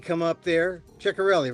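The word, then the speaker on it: Ciattarelli: uh she she let Cherelli come up there. Chorelli, right? Am I pronouncing his name correctly? Uh yeah, I think you pronounce the ch as in sh so it comes out shikarell.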